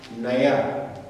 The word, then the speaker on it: naja: If you look at it very well, this alphabet is pronounced like a Y. Naya.